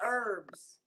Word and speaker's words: herbs: call a him big herbs. She calls him herb. Oh, okay. We call them herbs. The H is silent.